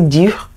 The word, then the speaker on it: dur: Please, do you see the difference in the pronunciations? The first is dur, this one is du.